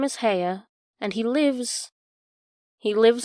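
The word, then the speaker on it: Haigha: His name is Hea." He pronounced it so as to rhyme with mayor.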